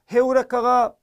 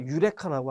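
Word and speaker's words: εὕρηκα: 헤우레카가 건너와서 지금 어떻게 발음이 됩니까? 유레카라고 하잖아요. 유레카. H음이 어느 순간 빠지고 영어에서는 E하고 U를 U라고 발음하니 유레카라고 지금 우리한테는 알려진 거지만 실제 그리스어 헬라어에는 헤우레카가 맞아요. 헤우레카.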